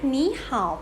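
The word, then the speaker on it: 你好: ว่า ยัง ไง เอ่ย นี่ How to ไหม นี่ ห่าว แปล ว่า สวัสดี นะ คะ ใน นี่ มี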